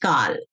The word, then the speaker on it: Kal: Kal, it's pronounced Kal.